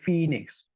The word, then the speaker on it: Phoenix: you see this letter although O is a vowel letter it is not influencing the pronunciation we do not say for a next we say Phoenix right so o is